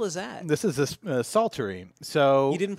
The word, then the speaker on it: psaltery: alter e right III don't pronounce the P on this word is it a silent